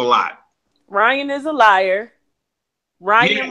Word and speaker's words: Ryan: Ryan rhymes with lion.